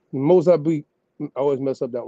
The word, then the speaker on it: Mozambique: Mozambique. No, beak. That's it. I was had it right the first time.